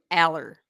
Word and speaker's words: Allar: you clarify this because yes it's Drew all quarterback Drew all Penn State his name is Drew Aller Drew yes this has